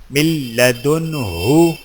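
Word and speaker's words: من لدنه: بھی یاد رہے جب نون ساکن یا نون تنوین کے بعد لام یا را آ جائے تو نون کی آواز کو ختم کر دیں، جیسے من لدنہ، من ربک۔ درج ذیل الفاظ کی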